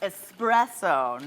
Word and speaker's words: espresso: This is espresso, no X in there. It's all S's, you guys.